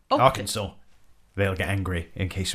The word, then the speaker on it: Arkansas: Austin Harper of Little Rock, R. Kansas. Arkansas.